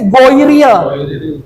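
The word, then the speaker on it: غير: Iya, tulisannya ghairil bacanya jadi goiril.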